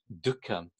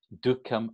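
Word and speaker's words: duḥkham: But the actual word dukkham really is made up of these two syllables, du and kha.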